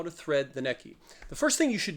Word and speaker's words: Necchi: You are looking at the incredible, the amazing once upon a time state-of-the-art tech sewing machine from the Neki company pronounced Neki.